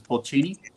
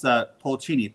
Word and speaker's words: Polcini: This is Polcini, and they spell it P-O-L. Yeah, that's probably a few hundred, isn't it? Yeah, it's Polcini, P-O-L-C-I-N-I.